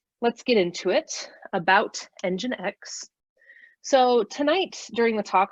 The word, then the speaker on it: nginx: it's spelled NG I and X and it's pronounced nginx and that took me several months before I